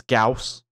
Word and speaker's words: Gauss: me uh and say how you're supposed to pronounce um that it's gauss apparently i call it because it's from a it's a german pronunciation so gauss so you have gauss